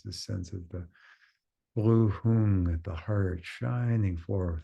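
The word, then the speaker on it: hūṃ: And at the heart, the seed syllable of hung, H-U-M or H-U-N-G, hung, a blue, radiant, hung syllable, jewel syllable.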